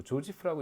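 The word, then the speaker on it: Joseph: 크리에이티브 디스트럭션이라고 해서 조셉 슌페터라고 뭐 조지프라고 읽기도 하고요.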